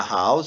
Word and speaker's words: house: nossas exceções que no caso aqui são a house ó Ok a house eu tenho a letra